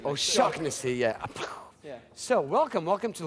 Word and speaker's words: Shaughnessy: I'll teach you. It's shocknessy. Oh, shocknessy, yeah.